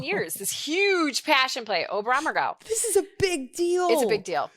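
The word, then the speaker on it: Oberammergau: yeah the oberhammer right you say it's ober ober amargo is how you say it yeah no they do it every 10 years this huge passion play obram or go this is a big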